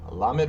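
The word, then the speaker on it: lamed: and then doid D so underneath the L has the the the dash of the T so remember that's going to be the a sound so it's going to be LA and then M and this the three dots is going to be e or E so la mid La mid all right and that's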